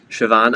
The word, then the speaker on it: Siobhan: then they hear like oh it's siobhan and they're like oh that's a that's an amazing name huh where'd the bee come from yep yep here we